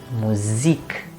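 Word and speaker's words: Musik: music rather um and since it's an international word the stress goes towards the end so we say music la la or this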